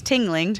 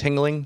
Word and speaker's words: Tingling: tingling sponsor this episode I always wondered how to say her last name thanks it's tingling tingling sorry you like that tingling feeling something like that just